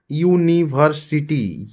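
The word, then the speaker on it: university: ए का प्रयोग होगा यूनिवर्सिटी यू यू य आ रहा है कंसोनेंट तो यहां पर भी यह होगा वन ऑफ वल से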